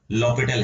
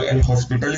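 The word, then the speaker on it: L'Hôpital: पढ़ते हैं हम लोग लॉपिटल है। एच और एस एस साइलेंट है। इन सब चीजों से इस रूल पे कोई फर्क नहीं पड़ेगा। ठीक है? तो किसी को एल हॉस्पिटल बोलना हो तो बोल लेना।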